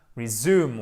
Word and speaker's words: resume: donc être we must resume working on this project. Exactement. Et vous avez votre accent tonique ici sur le U. Attendez, je vais faire la flèche comme il faut. Et c'est un ou long.